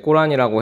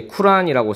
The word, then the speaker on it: 쿠란: 꾸란이라고 해도 되고, 발음상 저희는 이제 쿠란이라고 쓰고 있는데요.